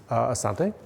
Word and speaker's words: asante: Asante.